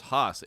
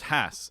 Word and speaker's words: Hass: people think it was haas h-a-a-s no i thought it was vice versa the real one is hass it's pronounced hass like class but a lot of